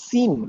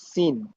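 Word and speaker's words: سين: এরপরে সিন। এই সিনের যে উচ্চারণ সেটা হচ্ছে স, একেবারে পিওর এস। যেমন সফট, সুপ্রিম, স্পেকটেকুলার।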